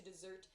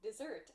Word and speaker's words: desert: position like so to desert the army please note dessert as the end of a meal and to desert meaning to leave or to abandon something have the same pronunciation but different grammatical functions so please be careful